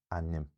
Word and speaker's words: ainm: from the pronunciation, again, the exact sound of this small unstressed vowel depends on whether the consonants are broad as in gorum, so you get a schwa there, gorum, or slender, so you get an i there in ainm.